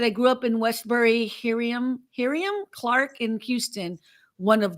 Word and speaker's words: Hiram: Brian said, I grew up in Westbury, Hiriam, Clark in Houston, one of the hoods. I don't know Hiriam Clark. But I know Houston. Hiram.